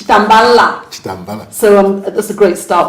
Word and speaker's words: Chitambala: He's already taught me how to pronounce his name because I said Chitambala, it's Chitambala.